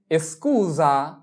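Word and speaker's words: scusa: এস্কুজা এস্কুজা এস্কুজা।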